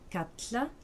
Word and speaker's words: kalla: Norrois kalla, qui veut dire appeler, devient katla avec un élément dental, ainsi que norrois varla, à peine, qui devient vatla et vient prononcer de la même façon que double L.